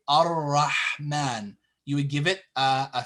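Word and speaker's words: الرحمن: Okay, but if you just say it by itself and you stop here and you start here, it's Ar-Rahman. You give it a fatha.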